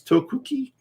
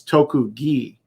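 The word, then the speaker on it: 特技: taking off a syllable they'll soften the k sound to a g sound so instead of toku ki which would be normally separately it's tokugi so there's this weird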